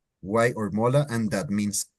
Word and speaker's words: guay: as you can see, it's spelled or it sounds just as it's written, guay. It's not guay or guy or it's guay. As you can see, you say all the vowels, guay.